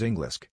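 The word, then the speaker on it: Englisc: In the olden era of English, the word English is pronounced as Englisk, as it is interrelated to the Angle tribe's place, called as Angle, which is the origin of Anglo-Germanic tribe.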